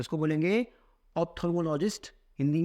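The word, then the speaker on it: ophthalmologist: तो इसको बोलेंगे ऑप्थेल्मोलॉजिस्ट, हिंदी में नेत्र रोग विशेषज्ञ।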